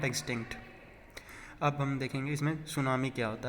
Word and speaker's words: tsunami: सुनामी क्या है, एक जापान के शब्द से लिया गया है ये जो वर्ड है सुनामी, ये जिसमें टी साइलेंट, TSUNAMI, इसे हम सुनामी पढ़ेंगे।